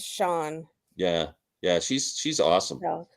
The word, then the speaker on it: Chan: that way Sean yeah it's ch H an but it's pronounced Sean yeah yeah she's she's